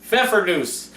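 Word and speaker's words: Pfeffernüsse: Pfeffernusse. You pronounce it like you do Pfeffer.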